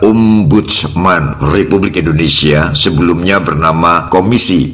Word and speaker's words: Ombudsman: ya, sekilas melihat di banner atau backdrop, kita membacanya Om Budiman atau Om Budi Saiman. Terkesan nama orang dengan panggilan Om, padahal yang dimaksud bukan itu, sangat berbeda dari perkiraan, hanya keliru membaca saja. Yang benar adalah Ombudsman Republik Indonesia, sebelumnya bernama